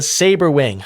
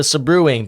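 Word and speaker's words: Sabrewing: Finally, I say it correctly. I used to call it the subruuing because I think also my cousin Aaron pronounced it that way. But it's called the saber wing.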